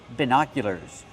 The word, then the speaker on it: binoculars: do you pronounce it binoculars use the short I sound like this is B put the stress on the second syllable it's an open sound like hot and stop B binocular make the